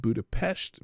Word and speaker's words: Budapest: Yes, I said Budapest because that's how they say it over there.